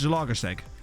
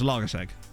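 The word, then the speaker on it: Zalaegerszeg: Because the I is actually, from what I've been told, not actually part of the name. That's just like a thing that's there. So I think it's pronounced Zalagaseg.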